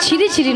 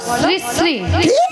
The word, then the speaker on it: শ্রী শ্রী: আরে মাসি, ওনার নাম ছিরি ছিরি নয়, বলো শ্রী শ্রী।